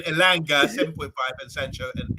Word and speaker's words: Elanga: As you would say, I'll call him Elanga. Yeah, I spell it differently. Now. Yeah. So after his beautiful performance there, you call him Elanga now for good. No more Elangi.